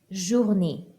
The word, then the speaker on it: journée: Bonne journée.